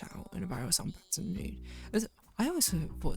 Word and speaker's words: Baton Rouge: First rapper to use crash out in a viral song, Baton Rouge. I always thought it's Baton Rouge. Is it Baton Rouge? Baton Rouge. Invisible S.